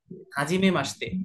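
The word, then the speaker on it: はじめまして: হাজিমে মাসতে। মাসতে, এই যে শি আছে, মাসিতে বা মাসতে, এটা আপনারা পরবর্তীতে বুঝতে পারবেন কেন শীতে হয়ে মাসতে হয়ে গেল।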